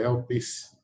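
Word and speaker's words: ἐλπίς: que ela se pronuncia, a fonética da palavra em grego é elpis, que é um substantivo feminino que tem origem no verbo elpo, que quer dizer antecipar ou acolher.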